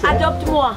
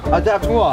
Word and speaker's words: Adopte-moi: Adopte-moi. Adopte-moi.